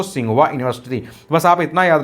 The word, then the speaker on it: Tsinghua: तो यहाँ देखिए स्टार्ट TSINGHUA, इसको हिंदी में पढ़ा जाता है दोस्तों सिंघुआ यूनिवर्सिटी।